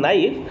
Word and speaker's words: knife: Okay, knife में K silent रहता है, but if some people do not know about K is silent in knife, then they will pronounce it as knife.